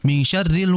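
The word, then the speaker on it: مِن شَرِّ: Begituun pada ayat yang keempat dalam surah Annas di situ ikhfa dengan menyamarkan nun ya. Ditahan terlebih dahulu jangan terburu-buru. Minyarril wasidah. Ditahan terlebih dahulu dengan alirannya.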